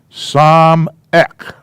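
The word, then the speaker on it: סמך: Samek.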